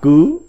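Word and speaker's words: 據: Âm Hán Việt đọc là cứ.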